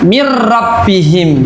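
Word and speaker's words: من ربهم: Ya, jadi ini seolah-olah nanti ada tasdidnya bacanya, ya. Bacanya mir rabbihim berarti ya.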